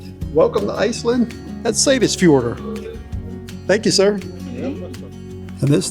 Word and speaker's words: Seyðisfjörður: Soon as we got ashore, I found somebody to pronounce it. Welcome into Lislands. And uh the name of this city is Sis Fjord. Welcome to Iceland. That's Sis Fjorder.